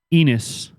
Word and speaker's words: Ennis: bighorn bourbon out of enis montana and it is spelled e-n-n-i-s just like penis without the p added an extra in